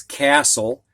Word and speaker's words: castle: we go to the silent t words and the first one is castle this is a large